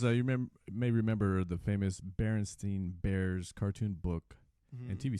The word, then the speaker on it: Berenstain: So it says you may remember the famous Berenstain Bears cartoon book and TV series. Sure, we remember them too, but the fact is that the name of the series is Berenstain with an A rather than Berenstein with an E.